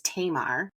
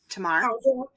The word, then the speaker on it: Tamar: the story of and I'm going to say it wrong because this is how I learned it in Sunday school was Tamar which is probably really wrong but it's her Tomar how wrong can you